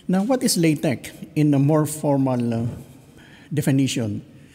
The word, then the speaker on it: LaTeX: This is pronounced as LATEX. Not LATEX.